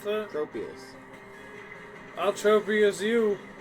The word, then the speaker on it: Tropius: Tropus? How do you pronounce that? Tropius.